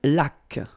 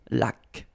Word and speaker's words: laque: Une laque. Remember the rule when you get this Q, U, well, U is not pronounced, so you get K, K, like that. Une laque, une hygiène.